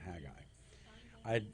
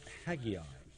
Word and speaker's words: Haggai: i've never in person met anybody else named haggai i i know in in israel it's pronounced haggai in parts of like in the new york